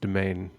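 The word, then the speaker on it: demesne: Mind by the way uh up the word's pronounced domain oh is it cool are you talking about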